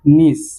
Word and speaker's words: niece: সো এটি English হবে নিস, NIECE নিস। আমরা এটির প্রনাউন্সিয়েশনটা একটু খেয়াল রাখবো, নিস, উচ্চারণটা হবে নিস।